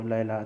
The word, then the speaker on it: لیلا: نوبت جو ہے وہ لیلا تک پہنچ گئی۔ لیلا کہیں یا لیلا کہیں، بات ایک یہ، لیلا جو ہے وہ فارسی کا تلفظ ہے، لیلا جو ہے وہ